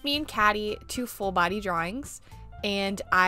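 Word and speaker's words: Kady: I'm like, I should draw Catty, and she also agreed I should draw my character Catty. Now, Catty is based around the word Catty, C-A-T-T-Y, but her name is spelled K-A-D-Y.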